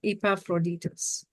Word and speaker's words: Epaphroditus: over here I can't even say his name epaphroditus oh I said it right epaphroditus for indeed he was sick nigh unto death